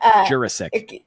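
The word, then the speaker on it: Jurasik: You say jurisk. Okay. Jurissk.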